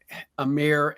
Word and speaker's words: Amen: the Thompson Twins um Amir and Asar I believe is how he pronounces it who also are playing